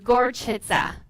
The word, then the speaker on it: Gorczyca: comments Oh how how how do you pronounce my name it's a tough one it's gorgeous huh gorgeous huh yeah it's polish yes I am sure